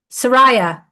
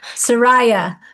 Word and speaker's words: Soraya: the Zoog, Syria, what, Susan? Soraya. Thank you. She even gave it to me phonetically and I still couldn't read it. Soraya, a female Arcturian human hybrid from Polona, young adult that she's a teacher of.